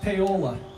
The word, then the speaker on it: Paoli: A politician, it's pronounced Paola.